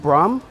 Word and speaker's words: Bram: I want to make sure we're pronouncing it right. Bram.